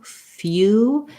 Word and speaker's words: few: Also, maybe try the word few. That one has a glide before the oo, few, and then feel how that's different. Few, I have to change my lip shape versus foo, I just go right from the f to the oo sound.